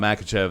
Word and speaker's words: Makhachev: Islam Makhachev.